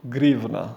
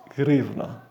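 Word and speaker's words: гривна: And this is due to its Russian language counterpart, pronounced grivna.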